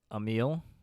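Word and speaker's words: Emile: his brother's name is Emil e-m-i-l-e and it phonetically it sounds like a meal because he eats a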